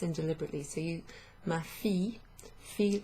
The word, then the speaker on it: fille: So ma fille, fille like Fiona or Fion.